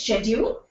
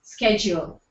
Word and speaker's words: schedule: they writing or okay the fourth word is schedule or schedule it's UK it's schedule us it's schedule so with I think